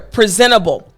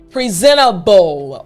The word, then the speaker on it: presentable: the word is presentable what i want you to focus on is right here presentable all right p r e s e n t a b b l e you heard me say right so i want you to focus on the sound all right sometimes this can be just a little bit tricky presentable bowl so in order for